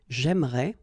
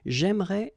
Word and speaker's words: j'aimerais: But then it's exactly the same thing, because even if you get this here and here, you don't pronounce it. So it will go like j'aimerais, or then j'aimerais. Remember, phonetically, they are the same, okay? J'aimerais, j'aimerais.